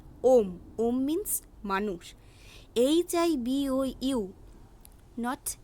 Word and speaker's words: homme: এরপর দেখব 5 নম্বর পয়েন্টটি, ফ্রেঞ্চ শব্দের এইচ বর্ণটি ভাওয়েল হিসেবে ব্যবহৃত হয় এবং শব্দ উচ্চারণের ক্ষেত্রে এইচ অ্যালফাবেটটি নিঃশব্দ থাকে। অর্থাৎ HOMME নট হোম এর উচ্চারণ হবে ওম।